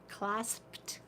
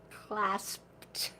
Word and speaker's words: clasped: didn't have it clas that's a hard word to say clasped good clasp say it it's hard C it has a p in it CL l a s p I'm kind of